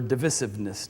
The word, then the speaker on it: divisiveness: Thirdly, you will know them by their divisiveness, or divisiveness, depending on how you want to pronounce that.